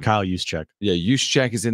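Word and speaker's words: Juszczyk: fullback creu how' he say his name Kyle yuse cheek yeah yuse cheek is in there forers just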